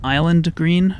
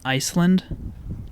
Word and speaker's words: Iceland: i thought this was island green but it's actually pronounced iceland like the country and here is the